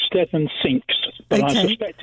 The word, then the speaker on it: Cinques: the cause sang is it's five i think in french isn't it the word but anyway so steve